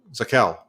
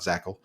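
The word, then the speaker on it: Zakelj: right it does present it's pronounced zachel zakal thank you not zackle sakel you're right zakal i need to get better at that i appreciate you for pointing that out not zackle saquel so there you have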